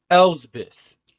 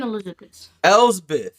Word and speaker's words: Elsbeth: Morgan Elsbeth. Morgan Elizabeth. Elizabeth. No. I'm saying it wrong on purpose. I know. Elizabeth. It sounds like the same thing.